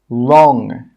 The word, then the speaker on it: wrong: Some common examples are right, wrote, wreck, wrong, rap. In all of these words, we're not pronouncing the W sound.